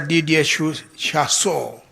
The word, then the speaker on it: Didier Chassot: Madam Makena Mubobia, Executive Director of the Training Center for Development Cooperation, His Excellency Ambassador Didier Chassot. Am I pronouncing it correctly? Absolutely. Yes, because French has nuances in pronunciation.